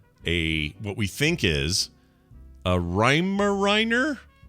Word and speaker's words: Weimaraner: we think is a Weimaraner. Am I saying it right? Weimaraner or like does it speak in iambic pentameter or is it a Weimaraner? Weimaraner, that's it.